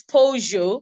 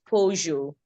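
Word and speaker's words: Peugeot: I believe it's pojo it's not an English word it's a name of a car manufacturer I don't know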